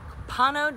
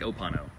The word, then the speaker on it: Copano: And today we are going to check out 7810 Copano Drive. With a C, Copano. Copano. Versus what? I don't know, it sounds like Opano. Opano, but it's not. It rhymes with Opano, but it's Copano.